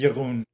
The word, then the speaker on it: Jeroen: to hear how you say it it is Yun Yun I'm I'm going to try I'm going